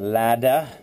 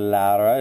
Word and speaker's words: Lada: And Laura, it looks like you go by the name, or at least you pronounce it Lada instead of Laura.